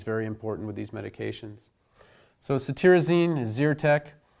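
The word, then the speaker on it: cetirizine: important with these medications socity Rosine is ear tech this TIR in CT reason is pronounced tear so you can think of tearing from allergy eyes loratadine has the added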